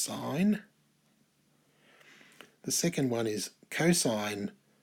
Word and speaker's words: sine: in here and on your calculators but it's pronounced sign the second one is cosine of theta is